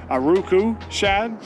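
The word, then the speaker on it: Aruku Shad: eye did work I will say that spro a Roku Shad I said it right that time it was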